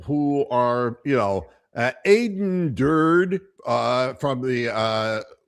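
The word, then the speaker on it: Durde: are, you know, Aiden Dur uh from the uh which rhymes with turd.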